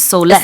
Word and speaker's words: soles: which is soul, but the plural form, I've just been informed, is soulless.